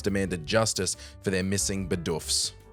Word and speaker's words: Bidoof: Twitter melted down, memes flew faster than quick attack, and fans demanded justice for their missing Bidoofs. I know it's technically pronounced Bidoof, but um I can't stop saying Bidoof.